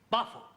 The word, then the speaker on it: buffalo: Yeah, words that end in O, like buffalo or radio or vertigo, you pronounce the O, but where there is no O, you don't add one, understand?